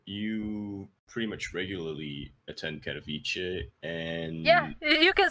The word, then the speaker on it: Katowice: As a resident Polish player, Katowice. Katowice. Yeah, Katowice. Oh god. Is it Miami Vice or what? But yeah, Kuro, you pretty much regularly attend Katowice, and yeah, you can say regularly because I